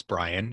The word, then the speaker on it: Bryan: So despite the Y in my first name, it's pronounced just like an I. So it's Bryan and my last name is.